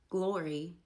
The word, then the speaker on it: Gloria: Glory instead of Gloria.